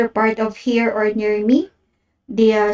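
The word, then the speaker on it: を: affected by the event note that this particle is pronounced as o and i've never so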